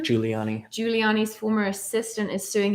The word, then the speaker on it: Giuliani: How do you pronounce his last name? Giuliani.